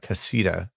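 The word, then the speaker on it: Caséta: I ordered Lutron has started making Casita, I think is how it's pronounced, light dimmers and switches that are compatible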